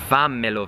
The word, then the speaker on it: fammelo: And the reason why it's a double M is because that's how you're pronouncing it. Whenever there are two letters next to each other in Italian, that means you need to show some more emphasis. Fammelo vedere, you really hear the M there.